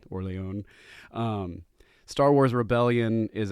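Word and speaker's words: Orléans: is terraforming Mars um my favorite Euro game is orleon or as my kids say Orleans because they refuse to say it with the proper pronunciation so kids if you're listening my son would probably be annoyed at orleon um Star Wars rebellion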